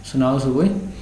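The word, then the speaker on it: Sunao Tsuboi: ওকে, সুনাও সুবুই, তোমরা জানো সুনামির স্পেলিংটা ঠিক প্রায় TNS দিয়ে শুরু হয়, কিন্তু ওর টিটা সাইলেন্ট থাকে, এখানে কিন্তু টিটা silent. সুনাও সুবুই who survived the world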